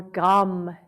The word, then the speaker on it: Gum: it maybe a simple mantra of Om or Gum, G-U-M. Gum is a very grounding seed syllable.